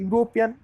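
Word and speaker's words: European: वो एक भावल है, लेकिन जब हम उसको उच्चारण करते हैं तो यू आती है, वाई यू, तो ये कॉन्सोनेंट साउंड आता है, इसलिए ए का इस्तेमाल हुआ है.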